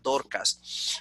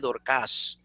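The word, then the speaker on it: Δορκάς: Mira, el nombre Dorcas, que nosotros tenemos en nuestras versiones de castellana, Dorcas, es un problema porque cuando tú lo ves en griego es aguda, entonces Dorcas.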